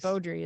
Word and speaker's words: Baudry: Baudry is definitely the way that you Yeah. pronounce that last name.